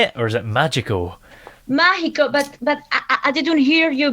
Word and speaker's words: mágico: Yes, in Spanish it's mágico. Mágico. So kind of like the Spanish for Mexico, but ma instead of me.